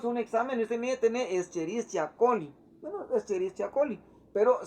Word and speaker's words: Escherichia: Si decimos Escherichia coli, se especificaría como Escherichia coli, que es como formalmente o generalmente se debería de llamar. Generalmente cuando hacemos un examen, usted me tiene Escherichia coli.